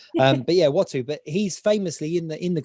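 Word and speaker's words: Uatu: Well, that I can never pronounce his name because it's spelt differently than it sounds. Watu, isn't it? But it's spelt bizarrely. Some kind of dyslexia, I'm sure. But Watu.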